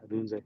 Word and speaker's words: Odunze: Yeah, Odunze.